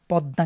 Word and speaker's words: পদ্মা: যদি পদ্মা আমরা জানি দর নিচে ম ফালা থাকার কারণে পদ্মা কে আমরা দুইবার উচ্চারণ করি দৃত্ত হয় এমনিভাবে কিন্তু বেশ কিছু